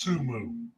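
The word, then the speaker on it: Temu: got an up and against and it's actually pronounced tumu tumu none of you guys watch the Super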